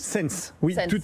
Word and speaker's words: Ssence: C'est comme ça qu'on prononce? Sense, oui, Sense.